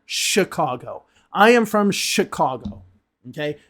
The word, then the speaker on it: Chicago: It's more the sh letter, Chicago. I am from Chicago, okay?